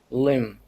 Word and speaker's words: limb: Album fiber limb. Limb. Yeah, this is a rule, right? After the M, the B is silent.